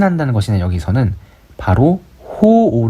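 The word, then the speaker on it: 好惡: 한다는 것이니 여기서는 바로 호오 를 신 한다는 것이죠 호오 5 아까 앞에서 봤었죠 이때 오라고 읽어야 되고 싫어하다 좋아하고 시나 다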